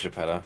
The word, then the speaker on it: Geppetto: It's Italian. Geppetto. Ray says it's Geppetto. Okay. Oh, okay. It is Geppetto.